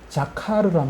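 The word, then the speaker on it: זכר: 히브리어적의 어 발음이 자카르란 말인데 자카르 자카르인데 무슨 뜻인가 하면은 어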